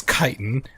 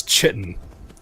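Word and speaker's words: chitin: remind everybody why that I know the correct pronunciation is kiten. I know some of you are going to be correcting me about the how about how it's how it's kiten. When you're in my streams it's chitten.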